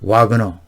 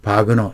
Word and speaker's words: Wagner: 실상을 가지고 방송해 드리겠습니다 와그너 혹은 바그너 이렇게 불리우는데요 저는이 영상에서 영미권 발음으로 와그너로 호칭 하게 되겠습니다 양해해 주시기 바랍니다 존